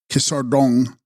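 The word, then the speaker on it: Ge-sar sgrung: In the great Tibetan Arththeran-like saga called in Tibetan Gisarangs pronounced Kisardong or Kisar saga of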